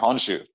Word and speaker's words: Honshu: I'm pronouncing that right? Yeah. Okay, Honshu.